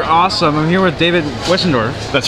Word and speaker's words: Westendorf: these things are awesome I'm here with David wendor that's right all right see I got it right yeah right good pronunciation what can you tell us what am